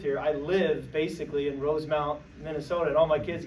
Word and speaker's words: Rosemount: And I always mispronounced it because I would call it Rosemont, because that's where I was from here in Illinois. And Rosemount, Minnesota.